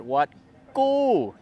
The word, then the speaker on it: Wat Ku: in tanaburi we're at wat gu which in english it's spelled k-u but it's got like that that g sound anyway we're gonna check